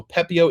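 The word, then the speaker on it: Pepiot: out Ryan pepio and yes I'm being told from multiple sources that tea at the end it is a silent tea so pepio is his name regardless of how you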